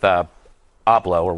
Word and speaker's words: Ebola: His name rhymes with Oblo, right?